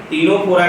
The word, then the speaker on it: Ctenophora: दे दिया गया है तो यहां पे सी जो लिखा है यहां पे साइलेंट है तो हम लोग बात करने वाले हैं फाइलम तीनों कोरा की बात करेंगे और